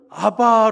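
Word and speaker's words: אבא: 아빠 그리고 어찌 보면 예수님께서 사용하셨던 아바 라고 하는 그 알아 뭐 하고 가장 비슷한 발음이 아빠 해요 그쵸 그렇게 우리말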